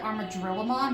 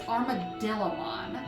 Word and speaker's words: Armadillomon: I always pronounce it Armadrillamon, but it's Armadillomon.